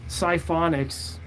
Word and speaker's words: Sciphonics: So, I mean, my name on the channel, Sciphonics is how you say it, is the only word like it on the internet, because it's fake, but it's unique.